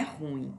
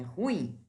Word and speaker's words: ruim: chamei bem atenção ó ruim não é ruim é ruim então letra b em